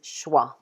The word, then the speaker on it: schwa: This symbol here, the name of this symbol is schwa. And we pronounce this symbol like that.